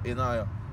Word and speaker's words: Inaya: Inaya. Inaya. Inaya with Ain.